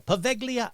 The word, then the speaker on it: Poveglia: Pronunciation. Poveglia. Poveglia. Poveglia. Poveglia. There we go. Poveglia Island.